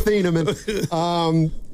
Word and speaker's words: Thieneman: I had Thieneman early, and he said, no, it's Thieneman.